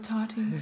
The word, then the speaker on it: Tati: Rhymes with Tati. Tati the hottie.